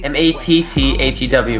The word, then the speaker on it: Matthew: M-A-T-T-H-E-W, but it's really pronounced Matthew.